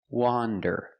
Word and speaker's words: wander: let's look at pronunciation wander is pronounced with the short o sound the sound of ah like you hear in hot and stop W wander it's an open Sound a a w wander and